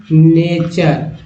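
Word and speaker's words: nature: तो जैसे च कब उच्चारण होता है, जैसे मान लीजिए एक वर्ड लेते हैं नेचर। तो देखिए, नेचर में टी वाली च जो आ गया, इसे चर बोलते हैं।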